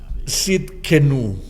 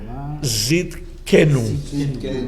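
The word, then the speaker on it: Tsidkenu: Bien, y hay otro nombre que vamos a estudiar hoy día, y ese nombre es un poquito difícil de pronunciar, pero el nombre es Yahvé Sidkenu.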